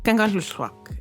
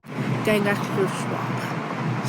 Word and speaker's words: Kangerlussuaq: are overwhelmingly coming through one of those airports, Kangerlussuaq, especially if you're a local, which I'll explain why a little later on. And it's been a whole journey learning how to say Kangerlussuaq. Kangerlussuaq.